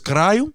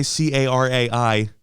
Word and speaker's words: caralho: The right word is carayo, or if you're saying it really fast, you might not put that much O. But just know it's spelled CARALHO.